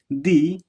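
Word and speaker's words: the: दी, इसको दी प्रोनाउंस करें क्योंकि अगला जो वर्ड है उसका फर्स्ट जो साउंड है उसका क्या है? वो वोवल साउंड है।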